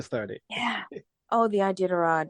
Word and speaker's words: Iditarod: Well, so how do you pronounce it? the Iditarod. Iditarod.